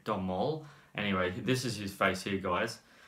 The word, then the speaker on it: Domhnall: I don't know how to pronounce his first name. It's Domhnall.